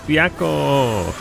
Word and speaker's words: Byakko: Yo, no, it's Byakko.